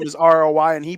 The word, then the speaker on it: Roy: on the TV and Katie goes that is not how you say his name I was like that's the French Roi yes who's Nick Roy